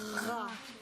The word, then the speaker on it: rat: Et le T, quand on dit qu'il est muet, ça veut dire qu'on ne l'entend pas. Donc tu ne le prononces pas. Tu ne le dis pas. Tu vas juste dire, comme tu as dit tout à l'heure, rat.